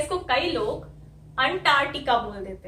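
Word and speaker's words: Antarctica: इस ए को हमें एह बोलना है, वही वाली जो हमारी फिफ्थ साउंड है, जो अफ्रीका में आई थी वही अंटार्कटिका में आती है, ओके। यही वाली साउंड, फिफ्थ साउंड, जिसको मैं ऐसे लिखती हूँ वॉवल रिप्रेजेंटेशन में, अफ्रीका, अंटार्कटिका, एन, एह, ये साउंड आ रही है यहाँ पे, तो ये साउंड आ गई।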